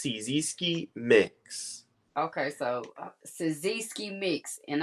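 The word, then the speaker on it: Cyzski Mix: called CI mix so it's spelled like c y z s k i mix so it's cisi mix Okay so cisi mix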